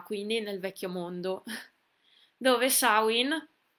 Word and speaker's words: Samhain: nel vecchio mondo dove samhain si pronuncia così non celtico dl a